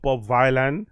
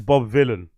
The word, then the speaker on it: Bob Vylan: clear that it's not Bob Violin it's Bob Villain Villain rhymes with Dylan right so it's Bob villain not Bob Violin like I've been pronouncing